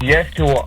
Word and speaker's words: Yeshua: So it's Yeshua. It's spelled YESHUA, and then, OMI.